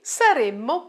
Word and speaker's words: saremmo: Noi saremmo partiti or partite. Make sure to pronounce two M's here, otherwise it sounds like the future simple. Saremmo, saremo. Saremmo, saremo.